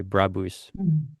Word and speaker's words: Brabus: That is the German pronunciation, by the way, Brabus.